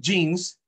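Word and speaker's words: djinn: porque estos personajes que se pronuncian jeans, porque la DJ se pronuncia J, jeans, no son divinidades propiamente dichas, sino seres sobrenaturales.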